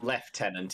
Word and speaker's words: lieutenant: Left tenant if I'm pronouncing it correctly.